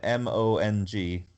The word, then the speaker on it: Mong: Mong, M-O-N-G. Is that pronounced Mong? Yeah, Mong, like Mongo McMichael. Okay. But without the O.